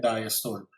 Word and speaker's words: diastole: X-axis is basically time, divided into 2 basic parts, your systole and diastole. Systole and diastole are actually the correct pronunciations.